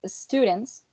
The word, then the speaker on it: students: no worries so in in students the sound is voiceless right which makes the plural sounds sound to be voiceless too so um it would be pronounced students and not with a with the set set as in dogs right it would be